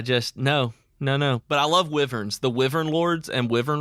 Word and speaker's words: wyvern: Like, give flying to a couple of people who are good at it, and try I guess it's technically pronounced wyvern.